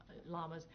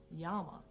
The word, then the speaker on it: llama: If you want to really say it the Spanish way, you say llama, right, Brent? Mm-hmm. Llama. When you have two L's, that means say it like a Y, llama. But if you're saying it the English way, you can say llama.